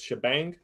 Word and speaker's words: shebang: same way so hash or this is usually pronounced shebang so shebang slash bin slash bash and this is going